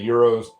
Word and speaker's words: gyros: I hope I'm saying that right cuz I call these gyros. I'm from the Midwest, so you know, forgive if I'm saying I know some people say euros. Some people say different stuff, but I just always pronounce them phonetically, so.